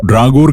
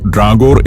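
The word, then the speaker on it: Dragør: എന്നും കൃത്യമായി പറയാത്തതുപോലെ തന്നെയാണത് ഇംഗ്ലീഷിൽ ഡ്രാഗോർ എന്ന് തന്നെയാണ് ഈ സ്ഥലത്തിന്റെ പേര് ഉച്ചരിക്കുക എന്നാൽ ഡാനിഷിലുള്ള യഥാർത്ഥ ഉച്ചാരണമാണ് വിദ്യാദത് പറഞ്ഞുതന്നത് ഡ്രാഗോർ എന്ന മുൻസിപ്പാലിറ്റിയിലെ പ്രധാന ടൗൺ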